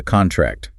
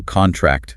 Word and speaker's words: contract: Or consider ct r a c noun. We sign the contract. Verb the market will contract next year.